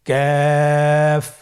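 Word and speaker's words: كاف: Calf উচ্চারণের ক্ষেত্রে অবশ্যই পাতলা করে উচ্চারণ করতে হবে এবং 3 আলিফ টেনে পড়তে হবে। আপনারা আমার সাথে চেষ্টা করুন। ক্যাফ।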